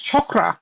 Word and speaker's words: chakra: And it's So, there are these beautiful little, uh, connections, um, you see, um, people say chakra and chakra, and it's chakra.